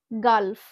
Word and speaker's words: gulf: আরো একটা এক্সাম্পল দেখো, গালফ, GULF, গালফ। এখানেও কিন্তু আমরা জি এর পরে ইউ লেটারটা দেখতে পাচ্ছি। তো সেখানে আমরা উচ্চারণ করব কি? জি কে আমরা গ হিসাবে উচ্চারণ করতে পারি।